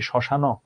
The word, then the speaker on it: শ্মশান: এটার উচ্চারণ কি শ্মশান?